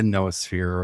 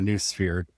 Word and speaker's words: noosphere: Today we're going to be talking about the noosphere or the new sphere on how you personally want to pronounce it. I put it both pronounced both ways and I can make arguments for both.